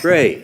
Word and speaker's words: Frey: Frey. Thank you, sir. That's it. Just like it's spelled.